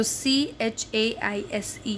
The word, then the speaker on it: chaise: So C-H-A-I-S-E, chaise. The pronunciation of chair in French is chaise.